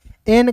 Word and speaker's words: any: उसके बाद देखिए दोस्तों यहाँ पे ANY, तो पढ़ेंगे ए का ए पढ़ेंगे, एन का न, अंतिम में जब भी वाई रहता है तो इसका उच्चारण ई के रूप में, एनी।